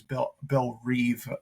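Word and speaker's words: Belle Reve: So we open on Belle Rev Prison, which, it's funny when you read things in literature, comics, and in your head, like, you pronounce them one way, but then, like, you get a different pronunciation in the show, because Amanda Waller says Belle Reeve, I think.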